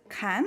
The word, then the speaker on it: Can: digital New Media artist Ken or or yeah it's it's actually it's a Turkish name uh it's pronounced just like j-o-n in English you know so who you